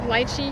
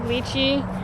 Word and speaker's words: lychee: They have about 4 or 5 different varieties of lychee. You can pronounce it lychee in the Chinese way or lychee in the American way.